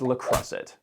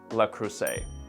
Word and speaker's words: Le Creuset: in the world is lacret properly pronounced lacru before you go to